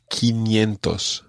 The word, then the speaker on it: quinientos: 500 is quinientos.